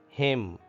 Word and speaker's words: hymn: In hymn, N is silent. Hymn. It is not hymn. Hymn.